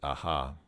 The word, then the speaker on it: ага: Usually, as far as I've heard, Russians usually pronounce this aga because it has a G in it. But I notice she says aha instead of aga. Okay, so again she said izya, so aha. Well, из-за тебя, because of